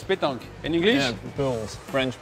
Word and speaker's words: pétanque: You practice pétanque, because in French it's pétanque.